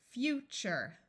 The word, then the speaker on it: future: a long ey sound even though this is spelled t r e it sounds like chur because the sound T is hard to say so this is chur chur this U will be